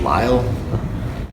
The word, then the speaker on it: Lyall: last name's Lyall, it's pronounced Lyle.